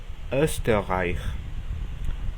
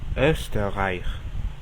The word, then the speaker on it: Österreich: U, Austria, Österreich, Österreich. La U umlaut se pronuncia como si estuviésemos diciendo iu, pero de una manera más profunda.